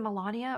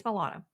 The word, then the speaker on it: Milana: her name I'm like is it Melania or is it Milana it's Milana anyway she's wonderful really funny